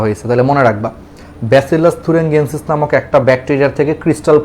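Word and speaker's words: thuringiensis: তাহলে দেখো ব্যাসিলাস থুরিঙ্গিয়েন্সিস, অনেকে জিএনসিস বলে উচ্চারণটা, আমেরিকান উচ্চারণ একরকম, ব্রিটিশ উচ্চারণ আরেক রকম।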